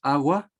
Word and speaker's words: agua: A ver si pronunciamos agua. ¿En qué vocal elevamos un poco la voz? En la palabra agua. ¿En cuál de las vocales? En la A. En la primera vocal A, ¿no es cierto?